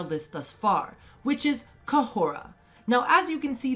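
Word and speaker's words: Khora: of h erasure whatsoever so again it is co hora cup whole raah kejoro now as we discussed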